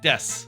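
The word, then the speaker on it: です: She's saying des or whatever. You know, it's spelled like desu, but it's just pronounced death.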